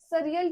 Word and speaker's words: surreal: देखिए इसको हम प्रोनाउंस करेंगे सरियल की तरह प्रोनाउंस करेंगे।